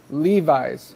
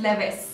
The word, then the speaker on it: Levi's: Okay, Levi's. Levi's. Yes. In Turkey, it is Levis. Levis. Yeah, Okay. the right pronunciation is Levi's.